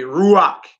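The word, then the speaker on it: רוח: But really, if you pronouncing that without the vowels, his name should have been Rawak. Not Raw call. Rawak Gabar. Right? With the vowels, you say Ruach, which is Hebrew for spirit.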